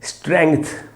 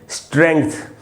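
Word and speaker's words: strength: थ के पहले आधा ग भी है। तो इसको पढ़ेंगे स्ट्रेंथ। ग बोलना है बीच में। स्ट्रेंथ और ये रहा इसका फनेटिक ट्रांसक्रिप्शन।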